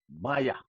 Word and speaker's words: Mayowa: Now I have seen a situation with an African man and an African woman, Roby Ekpo and Maya. That's how they pronounce their name in Nigeria.